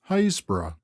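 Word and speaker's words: Happisburgh: happensberg by the villagers hasbro and by the trinity board hayes bro it is pronounced locally hasbro leaving haysbrough we walk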